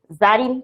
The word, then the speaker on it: Zarin: তখন আমার নামের বানানটা দেখতে পাচ্ছ, একটু ডিফারেন্ট লাগতে পারে তোমার কাছে, কি লেখা, ZARIN, জারিন, তাই না? কিন্তু এটা হচ্ছে যে আমার উচ্চারণটা কি জারিন, বাংলায় লিখলে ব্যাপারটা হচ্ছে কিছুটা এইরকম।